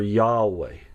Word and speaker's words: Yahweh: This is the word in Hebrew that you would know as Jehovah, or Yahweh is another way that it's pronounced.